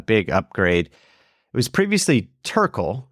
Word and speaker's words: Terkel: It was previously Tural, right? Am I pronouncing that right?